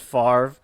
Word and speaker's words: Favre: of like the Brett Favre conundrum. Like, he says it's pronounced Favre, but that doesn't make any sense based on how it's spelled.